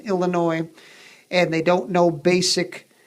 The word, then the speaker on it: Illinois: When you see a kid and they can't count change, and they move their lips when they read, and they pronounce the S in Illinois, and they don't know